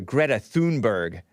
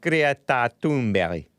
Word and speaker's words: Greta Thunberg: pronounce create a tomberry because a lot of you guys call her greta thunberg but she's swedish and it's pronounced creatunberry something like that anyway